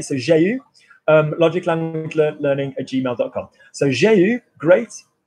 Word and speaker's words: j'ai eu: So j'ai eu, great. Remember that one is pronounced U. Anything else in French, EU is E.